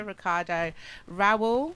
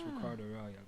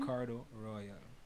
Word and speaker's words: Ricardo Rawal: Ricardo Raul.